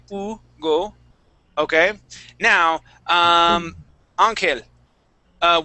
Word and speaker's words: Hugo: Spanish okay yeah so in Spanish we would not pronounce that H okay we wouldn't say Hugo okay we would say Ugo okay now um an